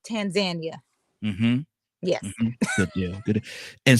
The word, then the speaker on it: Tanzania: So, but even though we would normally say Tanzania, the correct pronunciation that I'm now aware of is Tanzania.